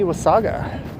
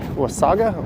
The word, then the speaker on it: Wasaga: Hello, Marty Wasaga. Do you say Wasaga or Wasaga? I hear both. I think it's that Canadian short vowel A pronunciation.